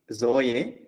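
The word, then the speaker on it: ζωή: So to pronounce it, it is Z sound, Zoe, Hamartia, doxa.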